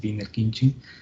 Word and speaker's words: Wiener-Khinchin: Entonces, este par de transformadas se conoce como el teorema de Wiener-Khinchin, así se pronuncia, es Wiener-Khinchin, y forma ese par de transformadas.